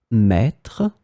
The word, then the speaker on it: maître: In this lesson, we will see together 3 words that will be written differently but pronounced the same way. Maître, mètre, mètre.